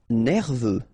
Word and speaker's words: nerveux: Nerveux, final X not pronounced, E-U, E, V, nerveux.